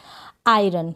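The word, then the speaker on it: iron: ये है आई, क्या है आई, आर को र और ओ एन है, इसको अन पढ़ेंगे। आयरन क्या पढ़ेंगे, यानी ओ का प्रोनाउंसिएशन अ हो रहा है तो आप ओ अन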